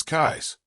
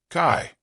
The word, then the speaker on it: Cádiz: In Spanish, the accent is always, as according to the spelling, on the first syllable, but while the usual pronunciation in Spain is, the local dialect says Cais, Kai, or even Ka, I instead.